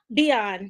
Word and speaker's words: Vion: Is it Vion? Beyond, yes. My cousin's name is Devon. Okay. So it's spelled like that, but with a D.